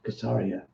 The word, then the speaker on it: Caesarea: was a man in Caesarea that's how you pronounce it kesariya named Cornelius a Roman army officer of all